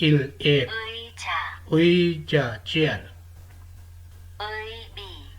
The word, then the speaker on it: 의자: Double vowel है उई, ये वर्ड का फर्स्ट सेलिबल हो तो ये प्रोनाउंस होता है एज ए उई, और अगर सेलिबल में इससे पहले कॉन्सोनेंट आए तो ये प्रोनाउंस होता है एज ए ई।